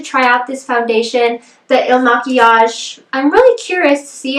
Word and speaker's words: IL MAKIAGE: the comments below um pretty sure it's pronounced el machias but who knows if you